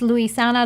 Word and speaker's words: Luisana: i can't get it it's luisana lopilato lopilato lopilato not that difficult not that bad it's a tongue twister but you get